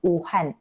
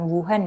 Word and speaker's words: Wuhan: korona namanya Wuhan kan Tapi sebenarnya namanya uh and provinsi uhan bukan Wuhan ya provinsi Uh jadi